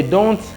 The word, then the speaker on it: don't: Alors, chers amis, le T de don't peut ne pas se prononcer. Si vous voulez sonner comme un anglophone, vous allez dire, vous n'allez pas prononcer la lettre T, vous allez dire I don't do my homework.